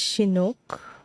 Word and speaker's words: Chinook: Pronounced as Chinook.